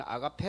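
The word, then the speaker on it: ἀγάπη: 깊은 뜻이 있습니다 어 사랑 은 헬라어로 악 아파 우린 아가페 라고 발음 하죠 무조건적인 사랑 이란 의미가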